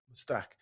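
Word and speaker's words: Mostaque: Is it Mustique or is it Mustique, Mustak, Alok? How do you yeah. pronounce it? Mustak.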